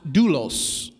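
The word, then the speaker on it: δοῦλος: The word Paul used here that's translated servant in a Greek word is pronounced doulos. This word doulos is also translated bond servant or slave.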